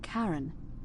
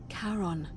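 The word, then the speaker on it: Charon: it's just as you described it only your pronunciation is a little off the name you heard wasn't Karen it was c h a r o n as in karon the Fairman of the Dead karon who in exchange for the right coin helps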